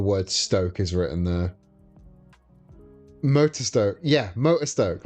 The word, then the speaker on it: Motostoke: of a tutorial and they pronounced it Motostoke. And I'm like, nah, dude. I understand you're trying to pronounce it accurately as a Japanese name, but it's not. It's fucking Stoke.